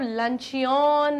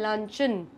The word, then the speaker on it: Luncheon: अब इसको अब लंचियन नहीं पढ़ेंगे, वो गलत होता है प्रोनाउंसिएशन। इसका प्रोनाउंसिएशन है लंचन।